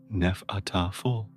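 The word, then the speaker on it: Hnefatafl: The most prominent Viking board game was Hanfataful, roughly pronounced Nefataful, a strategy game often called Viking chess.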